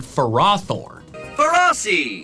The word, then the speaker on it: Ferrothorn: But the official pronunciations are phariseed and ferrothorn. Ferrothorn. Those pronunciations don't make any sense. The first part of their names comes from the word ferrous, which means containing iron.